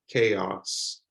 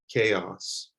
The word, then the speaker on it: chaos: two different sounds here this word is chaos chaos that's a two-syllable word chaos so there the a sound makes literally an a k chaos this word the i